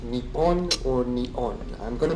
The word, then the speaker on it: Nippon: The name for Japan in Japanese is written using these kanji characters and pronounced Nippon or Nion.